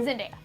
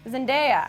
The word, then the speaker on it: Zendaya: Is that how I pronounce her name? Zendaya. Zendaya.